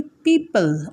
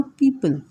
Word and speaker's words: people: PEOPLE উচ্চারণ হবে পিপল, ও এর উচ্চারণ হবে না, ভালো করে শুনে নাও, পিপল, পিপল who help us.